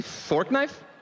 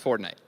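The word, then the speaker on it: Fortnite: this okay fortnight reference did you say fort knife it's it's actually pronounced for night no believe me definitely I know it's it's for night right guys it's for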